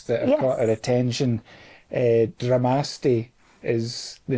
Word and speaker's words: Dramaste: I'm thinking Namaste, right? Namaste. Dramaste. Dramaste.